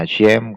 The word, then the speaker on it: Hashem: Ini kenapa saya bacanya Hashem? Karena ada konteks ketif dan kere. Dari tradisi praktisi Judaism, kalau ketemu tetragrammaton 4 huruf ini, kita bacanya Hashem ya.